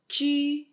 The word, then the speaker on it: ju: So for example, when you say J and U together, it's pronounced as a Ju, and Q and U